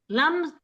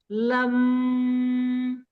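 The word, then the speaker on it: लं: लम के उच्चारण से लम हम उच्चारण जो करेंगे वह ल को छोटा करके और म को बड़ा करके हम इसको करेंगे तो यह हमारे जो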